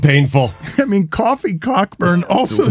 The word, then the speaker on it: Cockburn: I mean, Coffee Cockburn also sounds incredibly painful. That's the worst. He goes by Coburn. For obvious reasons. Well, then spell it Coburn. I mean, they spelled it Cockburn.